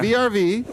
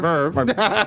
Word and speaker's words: VRV: VRV. Or, no, I'm sorry. Verve. Yeah, you say it right.